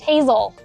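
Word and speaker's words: Hasell: and no overnight Vehicles the street names in Downtown Charleston many of them are pronounced a little bit differently than you might think like this one for example pronounced lree and this street is pronounced Yuji this street is pronounced vandr this street is pronounced Hazel I like to walk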